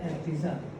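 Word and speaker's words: abscissa: ठीक है, और ये कहलाता है पॉइंट पी का एब्सिसा, एफ सी I double S, ये भी साइलेंट जैसा ही है, एस एब्सिसा, एब्सिसा, this is called the एब्सिसा, और इसको कहते हैं ऑर्डिनेट।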